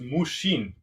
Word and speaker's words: mushin: In Japan, there's a word that's pronounced mushin.